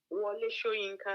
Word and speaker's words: Wole Soyinka: How do you pronounce his last name? The writer? Soyinka? Wole Soyinka.